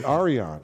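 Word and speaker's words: Yrion: Happ it's to it's Arian AR Aran but it it literally is spelled y r i o n and we y apostrophe say Arian okay and then how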